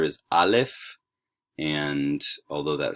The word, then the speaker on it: alef: first class um but this is alef it's essentially a glottal stop so something like the um the t's in a cockney english ball um but you're you're not really going to pronounce this letter so that's the first